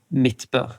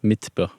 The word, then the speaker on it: Midtbø: O How do you say your last name mitb mitb okay MIT yeah awesome well I'll be sure